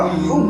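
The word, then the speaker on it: حب: Brother ইসলাম, বলার মানে হচ্ছে, যখন আমরা হুব বলবো, প্রথম অক্ষরটি হা উচ্চারণ হয়। এই হা কে উচ্চারণ করতে গেলে বুক থেকে একটা ঠান্ডা একটা হাওয়া বের হয়, হা।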